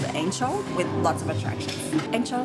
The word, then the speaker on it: Ancol: It's written with C, but the pronunciation is ch, like Ancol.